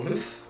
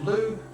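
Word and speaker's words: Lugh: Okay, next, now we have Lu, or Luth, Lu. I think it's pronounced Lu, but it's L-U-G-H, right?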